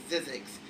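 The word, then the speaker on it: Zzyzx: And then I found out later it's pronounced Zizek's, but it was named that as a practical joke because there's no fucking way.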